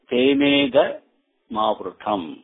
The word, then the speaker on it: tenedam avrutam: Dhumena vriyate vagnihi yata darso malena cha yatol dena vruto garbaha tatha teneda mavrutam. The words are tenedam avrutam. That's the right way to say it.